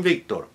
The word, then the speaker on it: Victor: Victor, Victoria, Veronica. All with a B like boy, spelled with a V, but pronounced with a hard B as in boy because it's initial.